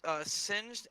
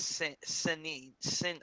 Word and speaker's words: Singed: Well, I've heard Singed, and I've heard somebody once pronounce it as Sin. I can't say it. That's It's not. It's What's stupid. it's wrong? entirely wrong.